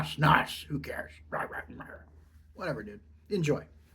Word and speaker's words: snus: That's actually pronounced snus. Nah, snus.